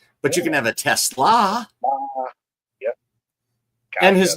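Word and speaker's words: TeSlaa: I guess uh that it is Tesla.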